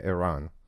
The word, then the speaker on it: Eran: Iran. Iran. Iran. Just make sure we we pronounce it.